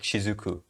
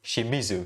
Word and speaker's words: Shimizu: for example in haikyuu you want to make shizuku wait what the did i just say shimizu sorry sorry haiki fans i've mispronounced her name but yeah shimizu kiyoko shimizu you